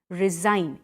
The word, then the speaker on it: resign: pronounced like a zed resign it becomes resign so the sign which we speak becomes resign sein it has a pronunciation of zed for example my boss